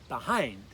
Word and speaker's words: behind: Again, notice that accent's on the second syllable. Behind.